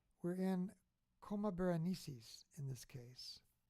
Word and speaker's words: Coma Berenices: looks like we're in coma berenices in this case some people say comaborenesis how do you say it coma berenices and looks like our